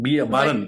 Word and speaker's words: Baran: Baran But in that. It's Okay, Bara.